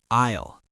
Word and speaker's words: aisle: Isle. A i l e. The s is silent. You say a isisle. Good point. An aisle is the walkway between the shelves.